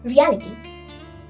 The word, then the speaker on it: reality: Again you have to pronounce this word reality, reality, reality. So you can understand that this word has more stress in the second part.